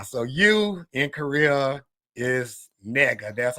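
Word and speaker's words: 네가: But then but in Korea there's a word like how we say you in Korea you pronounce it nega nega ne g a ne ga.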